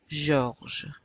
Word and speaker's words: Georges: Georges. Georges. G. You remember the G is pronounced G. And the J is pronounced J.